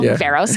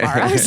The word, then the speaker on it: Varos: Yeah, I think sometimes when I explain to people what Varos does, I'm going to say it correctly now, Varos, not Varos, as I said earlier in this pod.